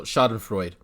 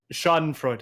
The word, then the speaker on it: Schadenfreude: but meeting an illness huh you mispronounced it how do you I don't speak I don't speak not see how do you pronounce it I have no idea what that word is schadenfreude n' schadenfreude an excuse me it means shopping